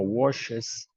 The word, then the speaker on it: wash: Wash is different from watch, ¿no? Son muy similares, but in English, you pronounce like a T, watch, watch. This is more soft. This is softer. Wash, wash, watch.